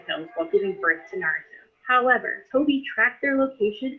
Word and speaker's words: Naruto: Yes, the English accent should be on the first syllable, like Naruto, but that's okay.